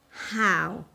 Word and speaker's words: how: What about how? We pronounce it with an aspirated H, and we often find it in simple questions like, how are you?